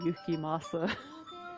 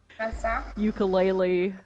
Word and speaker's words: Yukimasa: michelle also michelle and gizelle can not say yukimasa yes they they mispronounce it this is important ukulele i think is what giselle calls him ukulele